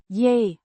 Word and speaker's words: je: Je. Similar to the English yeah, but shorter.